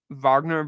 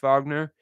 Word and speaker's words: Wagner: but the Wagner the Vagner Brothers spelled you know spelled out Wagner but pronounced Vagner uh Cole Anthony is